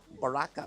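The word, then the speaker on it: Barrakka: that's not we are that's not how it's pronounced so it's Baraka b a r r a k k a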